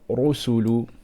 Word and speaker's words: rusulu: So the word rusulu, okay, we must pronounce the ra strong here. We're going to say ru, we're not going to say ru. Rusulu.